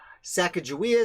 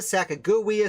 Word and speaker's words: Sacagawea: common spelling uh but the pronunciation with the j is becoming more common and her initial tribe